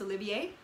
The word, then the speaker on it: Olivier: It won all sorts of awards, all sorts of Olivier Awards, and that's Olivier with an R at the end, but it's pronounced Olivier.